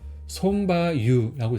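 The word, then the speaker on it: ソンバ油: 근데 일본어로는 손바유라고 읽어요. 그래서 손, 그 다음에 말마는 바, 기름은 유라고 읽어요. 그래서 이 바 같은 경우는 마하고 유하고 같이 읽을 때는 바가 좀 길게 읽어요. 그래서 손바유라고 있습니다. 그래서 위에 표기도 바가 길게 돼 있죠.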